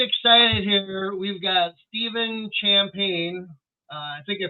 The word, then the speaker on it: Champagne: We've got Stephen Champagne. I think I pronounced your name right?